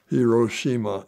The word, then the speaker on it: Hiroshima: on hirosa and Nagasaki hirosima and Nagasaki I was pronouncing it in Japanese but uh uh so